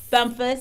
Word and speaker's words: Bumphus: Bumphus. I see that H in there, and so I wasn't sure exactly how to pronounce that, but I thought, I think it's an sound.